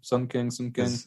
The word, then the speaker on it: Sung Kang: Yeah, her and Sung Kang, that's how you pronounce his name. Sung Kang.